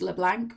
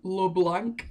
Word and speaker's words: Leblanc: delivered nicola leblanc nicolas leblanc leblanc if you want to just pronounce it born in english and he was a